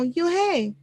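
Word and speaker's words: Unhei: up her face some kids chanter no no you hey corrected it's spelled u n h e i it's pronounced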